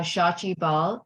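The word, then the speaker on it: Shachi Bahl: your name all right my name is uh shachi ball it's spelled as s-h-a-c-h-i-b-a-h-l and um I'm speaking to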